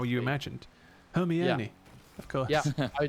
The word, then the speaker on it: Hermione: like, it's like fantasy, and the names are pronounced entirely Hermione, differently from how you famously. imagined? Hermione, of course.